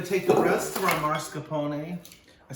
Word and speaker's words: mascarpone: no r and i want to say marscapone that's where people from saint louis who say george washington and stick an r in so don't say marsha pony mascarpone and if you want